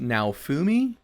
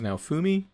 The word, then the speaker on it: Naofumi: actually important pieces of information his name is now fumi the protagonist his name is now fumi is pronounced but i know it's i was calling